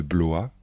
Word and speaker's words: Blois: plus célèbres sont les châteaux de chambor de Blois de chenonau et le château de ise les